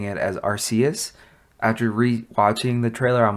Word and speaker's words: Arceus: We got Pokemon Arceus, Pokemon Legends Arceus, which my dumbass has been saying it as Arceus.